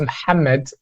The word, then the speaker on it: Mohammed: yeah, my name is Mohammed, and it's pronounced Mohammed in Arabic, and I am from Iraq.